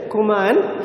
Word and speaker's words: Kumaon: So the pronunciation is Kumaon Hills and Kumaon district. So he stayed in Kumaon district and started tracking the tigers.